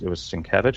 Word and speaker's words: Sienkiewicz: The way that the main artist for this one for the longest was Sienkiewicz.